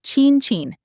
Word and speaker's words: Cin Cin: And Cin Cin is Cin Cin, 2 identical sounds.